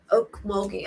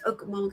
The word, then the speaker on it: Okmulgee: Okmulgee. Oh, thank you, Sandy Pink. Okmulgee. I thought it was like, because it's spelled like Okmulgee. I like how it sounds. I like saying Okmulgee, but we'll say Okmulgee.